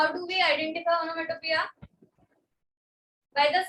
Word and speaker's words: onomatopoeia: The spelling is puya, but don't pronounce like foolish. It's onomatopoeia. Onomatopoeia.